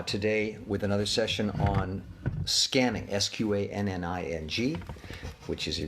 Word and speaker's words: SQANNING: practice this technique again it's called scanning i spell it s-q-a-n-n-i-n-g just to distinguish it